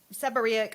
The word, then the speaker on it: seborrheic: Does this help people with dandruff and seborrheic?